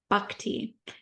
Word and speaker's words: Bhakti: bakti bu okay like think of a buck like the deer okay okay B Bak te and where where does